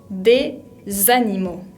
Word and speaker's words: des animaux: pronunciar porque vimos que la S final no se pronunciaba. Pero como le sigue una palabra que empieza con una vocal, en este caso la A, tenemos que unirlas para que quede más fluido.